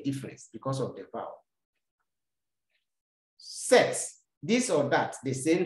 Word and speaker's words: cet: Sets. The problem is here. This set, please pay attention as I'm explaining. Good. C-E-T is pronounced set. It's not set, but set.